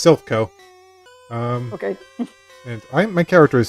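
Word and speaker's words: Silph Co: Yeah, it's Sylphco.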